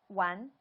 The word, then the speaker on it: 玩: What's the real way to say it? Or not the real way, the standard way to say it without the R? 玩.